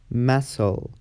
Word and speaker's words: muscle: C is silent after the letter S. For example, scissors, muscle, scent, seen, or fascinating.